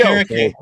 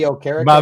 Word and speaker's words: Okereke: Bobby Okereke. Bobby Okereke.